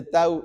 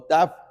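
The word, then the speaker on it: תו: Dice Tau, bueno, o Taf, algunos pronuncian como Tab o Tau, y es una T, entonces no termina con una Z como nosotros.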